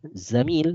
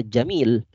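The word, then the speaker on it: زميل: rezeki seputar zamil utangnya dibacanya harus benar ya zamil Laisa Jamil Azzaini sajim yakni huruf Zaidan bukan huruf Jim ya azzamil ini artinya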